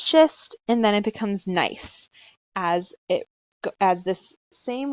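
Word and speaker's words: gneiss: two types of rock nice which is starts with a G but is pronounced with a silent G nice sample - in quartzite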